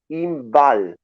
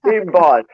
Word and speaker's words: Inbaal: Uh, your name is Inbal. Exactly? Perfect. You pronounce it better than Perfect. anyone in England. Yeah. Inbal.